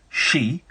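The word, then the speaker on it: 四: In Japan, the number 4, shi, sounds like the word for death. Shi.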